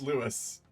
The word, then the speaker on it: Lewis: there we go yeah it is literally just Louis spelled slightly differently but it's Lewis Lewis du book the